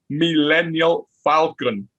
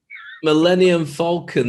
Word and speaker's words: Millennium Falcon: Signing off from the Millennial Falcon. Millennium Falcon. May the force be with you, but may you say it properly next time we do this show.